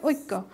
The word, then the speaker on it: ঐক্য: এখানে কয়ের সাথে জফলা থাকলে কটার দ্বিত্ব হয়, অর্থাৎ ককে আমরা দুইবার উচ্চারণ করছি, ঐক্য, শব্দটার সঠিক উচ্চারণ হচ্ছে ঐক্য।